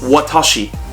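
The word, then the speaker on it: わたし: the uh kanji okay so this one kanji is pronounced watashi which is three letters in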